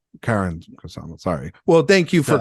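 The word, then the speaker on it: Karyn Kusama: It's Karen Kusama. Sorry. Well, thank you for correcting me, Andor. So since you're so like into pronunciations, it is Karen.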